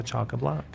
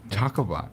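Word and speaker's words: chockablock: Cha block. Choco block.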